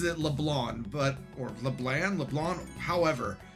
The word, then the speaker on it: Leblanc: So I've always pronounced it as Leblanc, which I mean I know technically is incorrect, but the C is there. And to my English speakaking brain, there's no reason why you wouldn't pronounce the C.